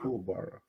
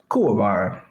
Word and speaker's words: Kuwabara: Who's Cool Bara? Kuwabara.